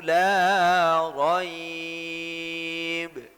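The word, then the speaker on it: لا ريب: Kalau la raib itu nanti seakan-akan ada tashilul hamzah, ada hamzah yang dilembutkan, ada hamzah yang digampangkan di situ, disamarkan. Nah itu beda. Makanya bacanya Dzalikal kitabu la raib.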